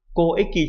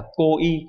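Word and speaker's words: 交易: Do vậy dù nó có hai cái đọc là eki và y thì cách đọc đúng phải là bo eki và ko eki chứ không phải là bo y hay là ko y.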